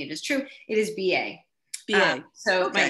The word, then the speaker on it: Ba: it is yeah so my father and i pronounce it differently it is true it is b.a so my name is ba i'm the